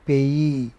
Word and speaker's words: payee: position player agree You All these words, you know, we have which have two e's at the end, like agree, degree, payee. They take main stress on the final syllable, no matter whether they are noun or whatever.